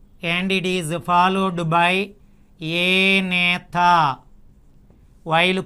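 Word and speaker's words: Agnatha: Now as we observe the evolution of vertebrates, the first one we call it as prevertebrate and it is followed by Anatha. While pronouncing the A is silent.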